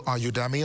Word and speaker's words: Udemy: There's also Udemy or Udemy, depending on how you pronounce it.